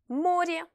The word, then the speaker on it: море: Comme par exemple, море, la mer. Море. Vous voyez qu'ici, la lettre Y, même si elle n'est pas accentuée, se prononce Y.